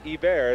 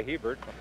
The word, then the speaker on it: Hebert: Here's a man from Troy, New York, and he pronounces his name Guy Hebert as opposed to Guy Hebert.